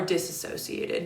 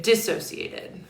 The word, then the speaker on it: dissociated: And a lot of people are disassociated. Dissociated. I'm trying to like say it correctly.